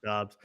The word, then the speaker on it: Dobbs: It's pronounced Dobbs.